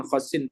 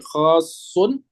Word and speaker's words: khosun: Nah, khosun ya bacanya bukan khosin, tapi khosun bil khala'i ay as-sahra'i.